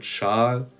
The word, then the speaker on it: Schal: Following on, if you read this sound, this syllable, S, C, and H, then you know that its pronunciation is going to be similar to the English SH. So the word Schal is going to be pronounced like sheep.